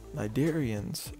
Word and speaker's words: Cnidarians: into the phylum nidaria cydarians are yes the sea in cydarian is silent cnidarians are a group